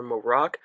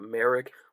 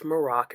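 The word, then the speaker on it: Marrok: their rise to power Ahsoka fights The Inquisitor morocc but we do learn that's how you pronounce his name it's not Merrick a lot of people oh my God it's Galen Merrick no it's morocc it's not Sam what word don't worry and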